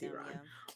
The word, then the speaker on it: Iran: Let me pronounce that correctly. It's Iran. Um yeah. And it's like it's not I did not run anywhere. I Iran as in the country Iran and it's like heartbreakingly